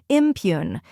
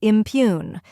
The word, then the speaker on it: impugn: The correct pronunciation is impugn. Let's break it down. First, we have im, which sounds like im in Imagine.